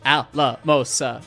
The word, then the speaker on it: Alamosa: So anyways, and it's 4 syllables, so Alamosa. 1, 2, 3, 4. Chuff, chuff, chuff, chuff. So, yeah.